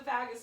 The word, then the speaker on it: vagus: the message to relax there is a part of the vagus nerve or vagus nerve depending on who you ask how to pronounce it it's the same root word as vagabond and so as not